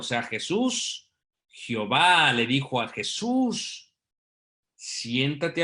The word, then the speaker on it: Jehová: Yahvé o Yehová, pero se le añade las vocales para que se pueda pronunciar como el Jehová, como Jehová, y ese Jehová es